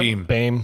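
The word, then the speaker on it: Behm: Beam. Bam. N. Beam. What' you say? B A. Yeah. B E H M. Yeah, like beam.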